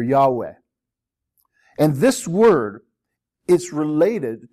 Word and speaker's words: Yahweh: the lord now actually we're not a hundred percent sure how this name is pronounced but it's probably pronounced something like yava or yahweh and this word is